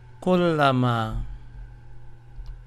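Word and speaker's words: كُلَّمَا: And here you have K-U-L, kul, L-A, la, M-A-A, ma, kullama.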